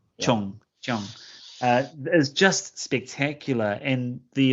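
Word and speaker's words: Cheung: I mean, in Mandarin, it's Zhang, but of course, this is the Cantonese pronunciation. So, Chong. Chong.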